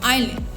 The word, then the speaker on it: island: She got confused in the spelling of island. ISLAND. But S is silent. You call it island, but that is not island, that is island. S is always silent.